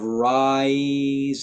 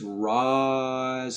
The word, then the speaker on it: rise: to not do too much diphthong instead of rise and shine it's rise and shine we mostly stay on the ah sound it's a little bit